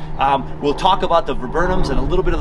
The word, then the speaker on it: viburnum: look at some photographs with a little pronunciation guide i learned that it's viburnum so a genus of more than 150 evergreen